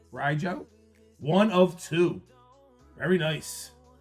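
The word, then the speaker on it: Rijo: Riojo. R I J O. Rojo. Riojo.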